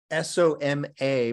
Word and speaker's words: Soma: But that's Soma, S-O-M-A, but a short A. Our nun, her name is Soma, with a long A at the end.